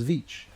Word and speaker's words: Veatch: name for example is vich. Vich is spelled v e a t c. You can't even fit them on your your hand. T c, right? So, it's actually three sounds. Va.